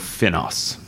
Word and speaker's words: FINOS: So, you're the Executive Director of FINOS. Is that how you pronounce it?